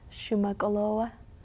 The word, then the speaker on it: Shuman'olo:wa: Peywa: Maybe because of the way in which it's pronounced, with the stops and pauses and the ways in which the letters have the longer vowel sounds and different things like that.